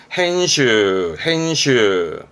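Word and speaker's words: 編集: 밀집되어 있는 발음은 미슈. 편자입니다. 편집하네요. hen슈.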